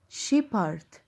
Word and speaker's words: shepherd: ال PH هنا في الكلمتين دول هيتنطقوا، تعالوا نشوف. she، sheep، hard، shepherd، shepherd. كأني قسمت الكلمة نصين، لغاية البي قلت sheep، وهنا من الأول الاتش قلت hard. hard يبقى shepherd.